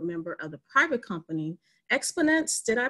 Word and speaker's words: Xponance: Petroleum and board member of the private company, Xponance. Did I pronounce that correctly?